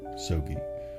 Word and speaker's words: Soggie: am Professor Dr sobey Easy's way to remember how to pronounce my name is to think of a stogie cigar or you can call